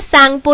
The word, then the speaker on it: Tsangpo: यहाँ पे शुरू जरूर टी से हुआ, लेकिन TSANGPO में टी जो है ये साइलेंट रहता है, इसको सांगपो ही कहा जाता है।